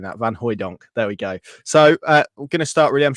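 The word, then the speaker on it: van Hooijdonk: I've got to get used to saying that van hoyon there we go so uh we're gonna start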